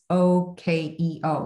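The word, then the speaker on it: OEKO: If it has an OKEO certified label, which is spelled really weird, it's OKEO, like okay, OKEO certified label, that's pretty good too.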